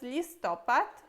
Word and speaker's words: listopad: Depois temos listopad. Listopad significa novembro. E esse é fácil também, porque listopad é outono. em novembro é outono, então listopada é outono na Polônia.